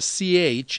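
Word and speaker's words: ψ: ki sounds like the CH in chemical C sounds like the PS in lips Omega sounds like the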